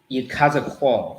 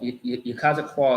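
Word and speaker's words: יחזקאל: last name he has you cause a qual you cause a qual is how you say his name all right and i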